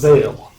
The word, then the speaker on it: Veal: Veal, the Dorothy Visser Senior Center. It's pronounced Vale.